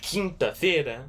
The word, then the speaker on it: quinta-feira: But the only difference is Thursday, Quinta-feira, has an I-N right there.